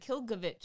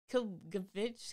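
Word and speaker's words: Klbkch: Kilgovich, I think it no, is. No, it's Kilbovich. Kilbukic.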